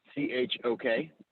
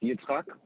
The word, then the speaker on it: Yitzchok: The first name's a little tricky. So let me spell it out for you. It's Yitzchok. It's Yitzchak, the Hebrew name.